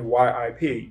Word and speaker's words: Yip: actually spell it man yip yip and listening to sigum Kwok say it it's almost like there's a shadow of a y on the beginning of it it's not truly it man but it's not